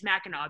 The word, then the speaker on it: Mackinac: i don't know but we also pronounce mackinac as mackinaw because we're weird um